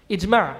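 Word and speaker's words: إجماع: each man it's man everybody repeat after me it's Mary it's Mara if you want to spell it out since I am a and it's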